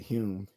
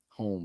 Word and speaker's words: Hume: kept calling you know pronouncing him his name uh home instead of hum so he changed the o to a u anyway so yeah I